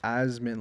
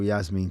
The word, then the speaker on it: Yasmin: Yasmin. I thought it was Yasmin, and I saw someone pronounce it like Asmin, like an I on the. I don't know.